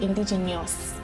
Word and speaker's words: indigenous: that then you say indigenous so darling it is indigenous indigenous for this particular one it is there is no grammatical error it is just the pronunciation indigenous not indigenous or whatever it said so